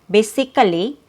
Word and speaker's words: basically: So in the third syllable there is a k sound which is represented by a letter c and it's followed by a schwah but the schwa is removed.